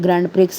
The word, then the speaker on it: Grand Prix: ग्रैंड प्रिक्स है। ग्रैंड प्री बोलते हैं। वैसे इसको एक्स साइलेंट रहता है।